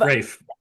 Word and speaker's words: Raph: We have the infamous Raph of Rafe. Rafe. Rafe. I was calling you Raph forever. That's This okay. is A why. lot of people, because it's spelled wrong.